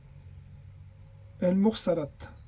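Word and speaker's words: المرسلات: Les envoyés qui se prononcent El-Mursalat.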